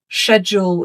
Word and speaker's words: schedule: And just to point out, schedule is British pronunciation. In North American English, you will hear schedule.